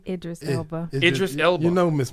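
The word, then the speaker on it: Idris Elba: he's from overseas uh eldris Ila how you say his name Idris Ela Idris Ela you know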